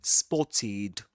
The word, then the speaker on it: spotted: So we say we double the t and we say spotted. Spotted. The final pronunciation the pronunciation of the ending the ed ending is spotted.